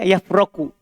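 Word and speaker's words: يفرك: Pakai huruf kaf akhirnya dan ro-nya di fathah.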